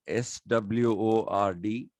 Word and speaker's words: sword: to say it so even though they wrote s-w-o-r-d they pronounced it as s-o-r-d sword so the sword was